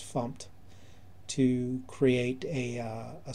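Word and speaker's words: fmt: and we'll use the fump package or the format package but it's pronounced fump to create a uh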